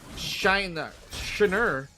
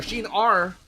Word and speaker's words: Shiner: And now we can see the patience coming in from Shiner, or Shin-R, rather. Okay, that's how you pronounce his name.